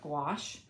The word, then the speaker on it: gouache: If you've never heard of gouache, you pronounce it like squash.